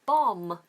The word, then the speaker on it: bomb: woom and tomb okay it's the same with the word bomb that's also got a silent B on the end b o m b bomb bomb bomb so don't say bomb okay okay so we're